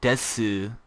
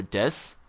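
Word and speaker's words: です: pronunciation is d d if you say Desu that's putting big emphasis on the Dez and um they don't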